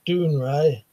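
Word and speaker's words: Dounreay: it grown dark said dawn rays pronounced doing ray that's a picture of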